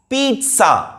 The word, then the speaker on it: pizza: correct pronunciation is pizza. ලාවට අල් ටයන්න කියවෙනවා වචනේ මැදින්. pizza. pizza. That is the correct pronunciation.